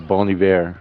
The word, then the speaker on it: Bon Iver: saying it right now so it's a Bon Iver like a good winner in French most definitely so my